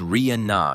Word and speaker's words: Rihanna: She captioned it, "It's Ria Na, y'all.